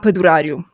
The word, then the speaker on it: Padurariu: Normally, it's pronounced Padaru.